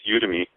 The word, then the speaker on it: Udemy: you're the expert you got it right it's udem me and uh the only reason I figured it